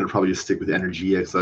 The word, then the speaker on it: Energia: Composer Studio and in, I guess I've been pronouncing it wrong. I think it's Energia, but I think there are videos I was watching, it's like Enegria or something like that, which I guess sounds Italian-ish. I'm going to probably just